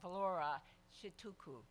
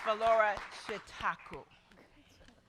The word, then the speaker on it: Vlora Çitaku: would you please join me in welcoming ambassador Valora should tuku and I will pronounce it again because it's for Laura shikaku very short thank you madam ambassador welcome to